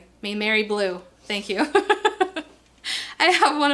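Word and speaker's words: Maimeri Blu: The Mary Bear Blue? Mary Blue.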